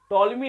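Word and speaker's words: Ptolemy: चोरी को किसने दिया टॉलमी ने इस थ्योरी को दिया था पीस साइलेंट टॉमी ने इस थ्योरी को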